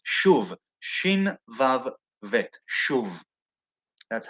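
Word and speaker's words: שוב: It's shuv, shin vav vet, shuv.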